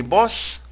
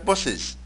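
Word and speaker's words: boss: لا، هي تلفظ اس واحدة. يعني بوس اللي هو رئيسك، يعني رئيس في العمل، في كثير بقول لك بوسز، وخاصة كلاس بقول لك كلاسز. غلط، هاي دبل اس لكن باللفظ تلفظ اس واحدة. فمننتبه في الكتاب نكتبها دبل اس لكن في اللفظ ون اس.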